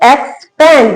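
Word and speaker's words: expand: एक्सपेंड। यहां एक्स का sound आएगा, यहां एग्स का आएगा।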